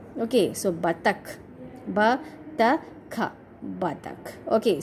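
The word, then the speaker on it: बतख: Okay, so ullu, u, symbol of u is used, that's why we pronounce it as ullu. Okay, next one is batak.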